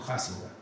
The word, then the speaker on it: Huizinga: El profesor, historiador y teórico de la cultura neerlandesa, Johan Huizinga, se escribe Huizinga, pero los holandeses pronuncian eso Huizinga, publicó en el año